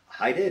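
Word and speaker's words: Haidt: but you know this Jonathan heed or hate maybe it's pronounced hate h AI DT yeah that's a cool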